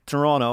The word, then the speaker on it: Toronto: Toronto. It's like you don't pronounce the second T, otherwise it's not, you're not from Toronto.